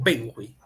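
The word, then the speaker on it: benjuí: separamos Ben fui Benji dónde recae la mayor fuerza de voz hui o benjui benjui Entonces sería acá Todos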